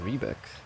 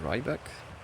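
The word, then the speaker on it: Riebeck: these names was incorrect I thought it was shirt and rebeck but apparently it's chirt and Rybeck and Bel spars har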